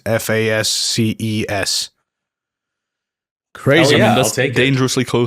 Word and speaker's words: fasces: I'm not sure if you pronounce it right, but it's fasces. Fasces.